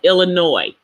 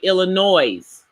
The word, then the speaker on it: Illinois: example the state of Illinois even though there is an S on the end of that word the S is silent but some people say Illinois's that's not correct now